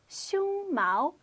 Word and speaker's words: 胸毛: It's pronounced 胸毛 with a first tone followed by a second tone.